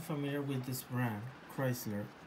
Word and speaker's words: Kreisler: with this brand Chrysler well actually I'm not sure if it's pronounced Chrysler or Chrysler like the car brand it's actually written differently with a k and it's actually spelled at k r e i SL r Chrysler with a K hmm yes with